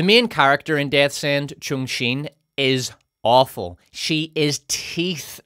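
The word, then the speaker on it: Cheng Xin: will next examine Jan 3 BP's version of Chung Shin by the way that's how her name is pronounced in the audio book so that's what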